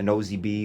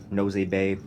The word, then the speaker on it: Nosy Be: are at the bottom, a nosy bee or nosy bay, I guess depends on how you want to pronounce the name, are down here, and these cages are kind of small for males.